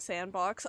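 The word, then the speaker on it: s&box: Sandbox pronounced like sandbox.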